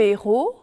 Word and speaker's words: héros: par la lettre h si le h est prononcé ou aspirer comme dans le mot héros par exemple il n'y a pas de liaison pour les reconnaître notez